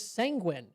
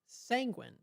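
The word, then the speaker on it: sanguine: And the word of the day is sanguin. Now, it sounds it rhymes with penguin. It is sanguin. That is s a n gu i n e.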